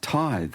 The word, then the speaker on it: tithe: I said, "Oh, a tithe. No, it's pronounced tithe."